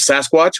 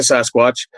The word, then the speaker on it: Sasquatch: one of them is Sasquatch. We call it Sasquatch up here. It comes from the First Nations name Sasket, and the people that the journalists couldn't pronounce Sasket, so they were saying Sasquatch.